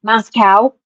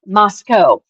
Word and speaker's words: Moscow: is that it is it is not pronounced Moscow. It is pronounced Moscow.